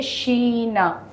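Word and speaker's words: China: तो इसीलिए सबसे पहले कंट्री को कहते हैं शीना। तो आपको प्रोनाउंसिएशन याद होगा सी एच जब भी आएगा ए इ आई ओ यू के हिसाब से आई के है इसीलिए हमको शी होगा।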